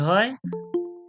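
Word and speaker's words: ح: মাঝখান থেকে কি বাহির হয় আইন হা আইন হা আইন হা আইন হা আইন যে আমি উচ্চারণ করব কণ্ঠনলীর মধ্যখান হইতে আইন হা আইন হা আইন হা আইন হা আইনটা একটু চেপে বের করব এরপরে দেখুন মাখরাজ নাম্বার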